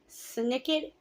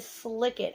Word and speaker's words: Snicket: I don't pronounce Snicket correctly. I pronounce it Slicket.